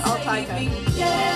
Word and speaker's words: altaica: So how do you pronounce your stage name? Altica. Altica. So Reggie actually pronounced it correctly.